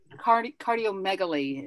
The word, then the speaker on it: cardiomegaly: Cardiomegaly is how you say the other one.